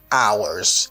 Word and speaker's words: hours: I need more work hours. C'est le petit bail pour noter, H la pas prononcer dans ça. Ou pas dit hours, ou dit hours. D'accord?